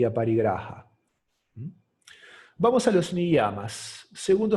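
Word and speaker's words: अपरिग्रह: Aparigraha. El sánscrito es un lenguaje gutural, entonces es difícil pronunciarlo correcto. Sería aparigraha. Y la acepción que yo entiendo más prudente de este término es desarrollar el desapego.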